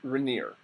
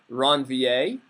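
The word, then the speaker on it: Ranvier: slightly different pronunciation it he's a French physician and it's a French last name different people are going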